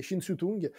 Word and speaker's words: Ching Siu-tung: Alors, je pense que c'est une question de prononciation si c'est en cantonais ou en mandarin, mais c'est Shin Su-tung, connu aussi à l'étranger